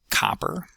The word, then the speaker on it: copper: Third word is copper. copper copper That's got the ah vowel in it. Stress on the first syllable.